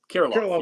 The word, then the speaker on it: Kirilloff: I think it's pronounced Krylov or something. Kirilloff, yes.